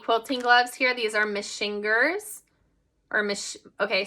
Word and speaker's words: Machingers: gloves here these are machingers okay so apparently you pronounce them a certain way it tells you on the back machiners okay and these do